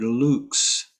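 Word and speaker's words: lux: tenors enter on the word luke's that's pronounced like l-o-o-x which means light uh here we go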